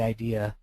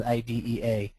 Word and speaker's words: IDEA: Most people don't refer to it as IDEA, even though it's spelled that way. So if you're trying to sound very savvy in an IEP meeting, don't say IDEA. Go with IDEA.